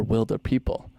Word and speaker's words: Wilderpeople: it and so then when he said we're Wilder people so then I knew it's pronounced Wilder people interesting see and I just